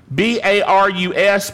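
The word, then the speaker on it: βαρύς: here for Grievous is barus don't you love Greek words b a r u s pronounced barus and it means weighty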